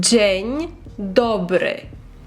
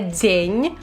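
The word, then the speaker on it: dzień dobry: декілька раз Добрий день джень добре джень добре Два важливі моменти на яких треба сконцентруватись це по-перше не дзень а джень джень і другий - це ми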